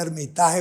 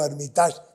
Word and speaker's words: Armitage: Yo por eso dije en cari, "Diga Armitaje o Armitas, dígalo como quiera porque el apellido era complicado."